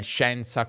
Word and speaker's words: scienza: No, parlo della I in parole come scienza, coscienza, ma non conoscenza, efficiente, sufficiente, specie, superficie, cielo. E so bene che c'è una spiegazione etimologica per queste I mute, ma è davvero necessario mantenerle se, uno, non si pronunciano, due, non hanno una